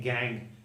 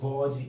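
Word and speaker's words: gangue: और वो है ये, इसका प्रोनाउंसिएशन है गैंग। इसे गॉज या फिर गैंज मत पढ़ना, इसको कहते हैं गैंग।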